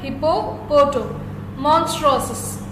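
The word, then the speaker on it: hippopotomonstrosesquippedaliophobia: Hippo, poto. Monstrosus.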